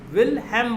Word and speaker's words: Wilhelm: चलिए, अगर स्पेलिंग पूछना है तो WILHELM, WILHELM, WUNDT, won't, WILHELM, विलहेम बोला जाता है लेकिन लोग विलियम बोल देते हैं।